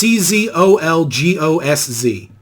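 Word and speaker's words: Czolgosz: Salgazaz? Yeah, that's fine. It's a Polish name. It's Czolgozz. Yeah, the way you pronounced it, Salzagos, makes it sound like Yog Sothoth or Cthulhu's dad.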